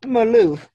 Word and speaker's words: Malouf: him to talk about as well so met Maloof am i pronouncing your name right yes morning thank you